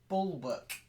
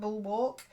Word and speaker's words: bulwark: work okay so bulwark bull book what things can you hear me uh yes yes not ball walk ball work ah yeah I remember all the work does it it's got the schwa you know your favorite